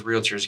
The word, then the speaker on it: realtor: Don't ever say realtor, because those realtors, you'll get a little fussy about that. It's pronounced realtors.